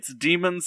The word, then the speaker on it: Daemons: It's demons spelt the traditional, I think Gaelic. Is it the AE? Yeah, Daemons. Daemons, yeah, Daemons, but it's still pronounced demons.